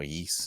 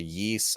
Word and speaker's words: Ys: So the Yeast. Is that how you pronounce it? Yeah, as far as I know, Yeast. Yeah, it's spelled YS, right?